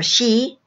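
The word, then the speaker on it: sidhe: Five, the Tuatha De Danann, or she, S-I-D-H-E, pronounced S-H-E-E, are related to both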